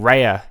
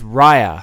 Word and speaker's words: Raya: and the last dragon i've been saying raya in my last couple episodes where i was getting ready for it and apparently that was wrong it took a while for them to say her name in the movie and they said it so forcefully as if to say to me specifically you've been saying it wrong no it is raya and the last dragon